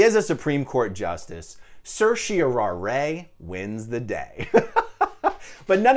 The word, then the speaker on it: certiorari: i came across no less than seven different pronunciations we have certiori we have certio rai we have certiorari certiorari certiorari certiorari and certiararay